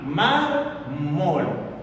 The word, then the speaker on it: mármol: Un ejemplo, la palabra mármol. Fíjate, tiene dos sílabas, un tipo de palabra bisílaba. La mayor fuerza de la voz, la sílaba tónica está en la penúltima, mármol.